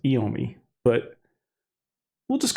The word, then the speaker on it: Iommi: The members of the band, Tony Iommi, which I think is how people pronounce it, although my Italian is telling me it should be pronounced Iommi, but we'll just call him Tony.